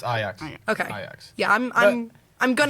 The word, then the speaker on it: Ajax: Oh, I'm also prematurely apologizing because I'm going to mispronounce. Is it Ajax? It's Ajax.